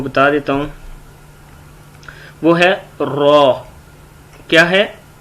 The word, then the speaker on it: ر: وہ ہے را. کیا ہے؟ را. یہ کیا ہے؟ را. خا اور را کو تھوڑا موٹا پڑھتے ہیں.